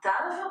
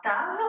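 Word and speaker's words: תו: Et la dernière lettre de l'alphabet, c'est un tave. On le dessine de cette façon et on la prononce t. C'est un tave.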